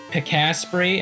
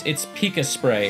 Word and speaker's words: Picaspray: hear me say Picaspray, and they're like, no, it's Pika Spray. And it's like, listen here, dumbass. It's my name. I think I know how to say it correctly.